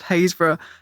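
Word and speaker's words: Happisburgh: of that one but if you read hayes written down it is spelled happysburg there's no one there's no way you'd look at it and think it was pronounced hazra in addition to that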